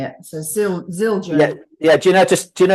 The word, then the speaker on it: Zildjian: So Zildjian. Yeah. Do you know how to spell it, Victor?